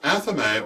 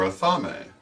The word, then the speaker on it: athame: Pronounced athame or athame, the ceremonial knife is the first of the four major working tools.